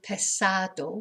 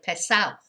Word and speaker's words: pesado: my area of Spain instead of pesado which they should pronounce it they do tend to say piss out so they say he's